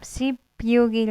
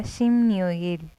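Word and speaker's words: 십육일: तो यहाँ पर हम सिप्यूगिल नहीं प्रोनाउंस करेंगे, नीचे पाची में प आ रहा है और फिर कुछ भी नहीं आ रहा है ओवर, तो वहाँ होगा शिमन्योगिल, शिमन्योगिल, शिमन्योगिल।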